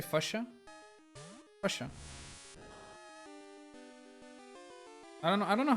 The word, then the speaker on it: Fuchsia: We don't have the Y sound though. Maybe that's the reason why I didn't really think of that, or why I say it like that. Fuchsia. Which is kind of dumb because the I is after the CH, right? So what is wrong with you guys? You're the one saying it wrong, not me. You guys don't know your own language.